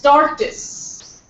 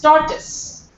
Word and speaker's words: tortoise: the pronunciation not tortoise it's toris and all Indians most of them pronounce it wrongly it's torus see this o is